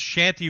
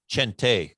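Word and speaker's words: Chente: and where does is shanty from the way your name is actually pronounced his name is chante with c-h-e-n-t-e he's mexican chante with a hard ch isn't the exclamation point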